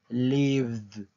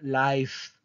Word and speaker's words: live: aquí puse esta palabra porque de repente pronuncian mal live live dicen Live Perdón Life Life Okay Life No es un verbo es un sustantivo Okay el verbo es live Live Okay en presente